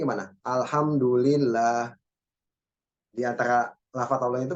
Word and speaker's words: alhamdulillah: Alhamdulillah. Di antara lafaz Allah itu berarti ada apa namanya? Matnya ya. Jadi jangan baca alhamdulillah nih, tapi apa? Alhamdulillah. Bedanya apa? Di terakhirnya itu ada matnya ya.